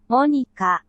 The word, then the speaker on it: Monika: How do you pronounce it? Natsuki? Sayori? Teach me. Natsuki, Sayori, Monika, Yuri.